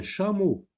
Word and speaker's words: chameau: Alors, regardez, on voit la lettre C, mais nous, on sait que lorsque la lettre C est devant H, ça se lit ch. Donc, un chameau.